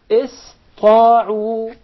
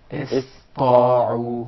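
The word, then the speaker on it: اسطاعوا: So it will be pronounced as Sin, not Sad. Okay. Ista'u. Ista'u.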